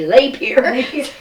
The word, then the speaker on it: Lapeer: I think it's like some people say Lapeer, some people Lapeer, and then we say we people who grew up here we say Lapeer.